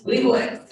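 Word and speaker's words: Leibovitz: We had also the famous photographer Annie, can you pronounce her last name for me? Leibowitz.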